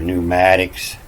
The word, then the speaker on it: pneumatics: And, the P is, they say the P is silent, but it's still there.